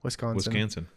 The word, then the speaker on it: Wisconsin: Wisconsin. Rhymes with mansion.